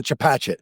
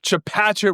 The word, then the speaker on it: Chepachet: Did I pronounce Chapachet? Chapachet, Rhode Island.